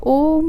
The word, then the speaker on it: ओम: उसमें आपने श्वासों को भरना है और ओम का साउंड निकालना है। ओ का लंबा करना है, म का साइलेंट रखना है।